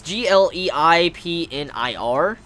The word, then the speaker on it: Gleipnir: I don't even know how to pronounce that series. I've never even heard of that. Gleipnir. It's Gleipnir.